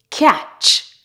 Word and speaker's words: catch: Normally, when you have a word that has T before CH, the T is silent. For example, butcher, catch, match, patch, scratch, witch.